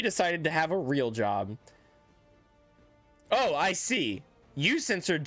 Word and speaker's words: Job: Yeah, Job is one of the books of the Bible. You probably don't know that. It's pronounced Job because it's about someone named Job, but it's spelled J O B.